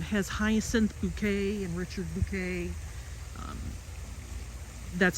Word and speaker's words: Bouquet: Has Hyacinth Bouquet and Richard Bouquet. That's how she pronounces it.